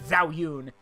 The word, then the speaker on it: Zhao Yun: No, if the legends and the stories are to be believed, Liu Bei, the general Zhao Yun, if you can't understand the pronunciation, but it's Zhao Yun.